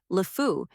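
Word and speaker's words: LeFou: The name of Gaston's sidekick, Lefu, is pronounced just like the French words meaning the idiot, the fool, or the insane.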